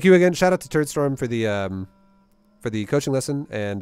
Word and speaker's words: Turdstorm: It's Turdstorm, like a poop storm. Turd, not turret. I can say turret storm.